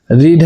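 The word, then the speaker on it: read: रीड है, रीड का third form क्या होता है, सेम स्पेलिंग होता है बट प्रोनाउंसिएशन क्या, रेड बाय।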